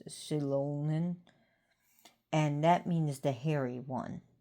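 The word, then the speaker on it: Xilon: Shilon X I L O N but it's pronounced Shilon and that means the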